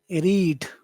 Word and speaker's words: rid: Well, now number 1 is a very relaxed, it's a pretty relaxed sound and it's something that you're going to eat.